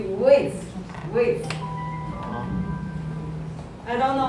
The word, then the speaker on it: width: And there are some pronunciation issues, like you have been reading whites, right? It should be width.